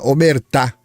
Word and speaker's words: Omertà: Capit é omertar, tá? Homertá. É omertar. Ottar italiana. Eu fui procurar a pronúncia correta, né? Eu fiquei falando omerta porque parece omerda, né? Merda. Eh, omertar.